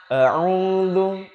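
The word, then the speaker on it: أعوذ: Baik, perhatikan kata yang pertama, a'udzu. Perhatikan teman-teman sekalian, ketika menyebutkan hamzah dengan ain itu berbeda. Walaupun makharijul hurufnya sama, tempat keluar hurufnya itu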